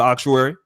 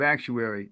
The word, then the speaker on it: actuary: What's going on, Brother Auctuary? Uh, it's good. It's all good. Forgive me for correcting you. The the the proper pronunciation of actuary is similar to mortuary.